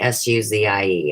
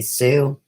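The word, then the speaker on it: Suzie: to piss me off I like Suz ie everybody remember that please don't ever call me sue I will never answer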